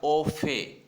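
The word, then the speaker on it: au fait: AUO और FAIT, इसमें T silent है, बोला जाएगा ओफे।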